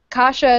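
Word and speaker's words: Kasia: I was I was give me the name pronunciations aneska and and and okay Kasha Kasha okay aneska Kasha the dragon okay gotcha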